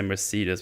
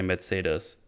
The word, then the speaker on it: Mercedes: Well, if I say it in English, I say Mercedes because that's what you all say. But in Germany, we just say Mercedes.